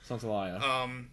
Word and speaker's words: Santaolalla: I always feel like if I read it the way it's spelled, that sounds too like Gustavo Santaolalla. Laya. Because it's Laya. Oh, yeah. Santaolalla.